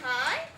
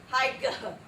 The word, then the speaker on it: high: What are these two letters? G and H. Do they make any sounds in the word high? No, we don't go hi-ga.